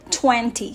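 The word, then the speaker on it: twenty: For example, the word 20. So there are two syllables here, twen and T. So the first syllable is twen, therefore this is the stressed syllable. So it's uttered louder, longer, and clearer.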